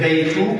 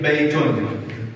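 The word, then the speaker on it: بَيْتٌ: Instead of saying baytu, we say baytun. Alright, and it's like we're adding a noon.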